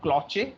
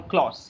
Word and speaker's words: cloche: Now there is something called, it's the pronunciation is नॉट क्लॉचे और it's called क्लॉश, CLOCHE.